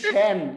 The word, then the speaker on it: সেন: উচ্চারণ চিকন ওই ব্যাটা ওই ব্যাটা ওই মোটা উচ্চারণ আমি আবারো বলতেছি এটা এটা কি শ্যান কি বলা হইতেছে সেন শ্যান শ্যান এটা কি